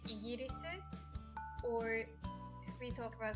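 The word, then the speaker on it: イギリス: イギリス obviously we couldn't hear the sound L, so イギリス that was the best we could do.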